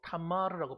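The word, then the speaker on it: תמר: 종려나무는 히브리어로 타마르라고 발음합니다.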